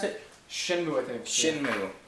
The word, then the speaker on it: Shenmue: Shenmue. Is that how you pronounce it? Shenmue, I think.